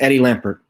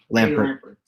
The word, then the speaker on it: Lampert: Or am I saying his name wrong? It's Eddie Lampert. Eddie Lampert.